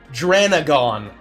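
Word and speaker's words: Dran0gon: How do you pronounce that? Dranagon. Dranagon with a 0 instead of an O is very funny.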